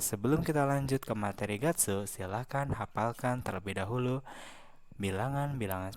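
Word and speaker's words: 月: sekarang kita lanjut ke materi bulan-bulan dalam bahasa Jepang itu dibacanya Gatsu Nah untuk penyebutan bulan dalam bahasa Jepang itu cukup mudah jadi tinggal nanti kita Uraikan saja Mah bilangan dari 1-12 lalu kita tambah Gatsu Nah tapi di sini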